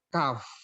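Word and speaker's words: cough: batuk lagi bukan eh bacanya kayak manusia bukan kau kau Tapi bacanya yang benar adalah Kaf Kaf ya seperti itu ya Kav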